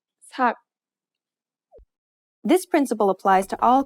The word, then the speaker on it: 삭: In this case, the letter, which is usually an S sound, becomes a T sound.